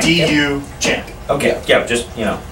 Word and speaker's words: Duchamp: But well, how do you spell that then? How do you spell his name? Duchamp? Yeah. Duchamp. Duchamp. D-U Champ.